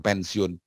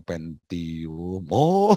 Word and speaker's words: Pentium: Benar nggak bacanya Intel pensiun? Bukan Pak, Intel Pentium.